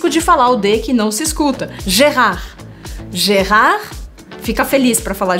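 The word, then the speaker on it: Gérard: pronúncia desse nome é jerrar da tarde o jerrar dan tardio se por acaso você pronunciou de no final de gerrard é errado a gente não por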